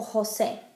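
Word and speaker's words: José: Jotas make the same sound as an H in English, like hi. So we have Juan or Jose. Same as if it were spelled with an H.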